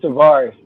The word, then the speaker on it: Taris: First of all, she always said my name wrong. It's Taris, but I forgive her because she a good person, yo.